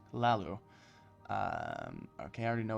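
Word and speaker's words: Hlaalu: can I serve you the H by the way I found out is silent so Lalu sorry I've been saying hello it's Lalu um okay I already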